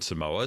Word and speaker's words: Samoa: she was from american samoa so good on her although i didn't realize this uh it's pronounced samoa american samoa really yeah well i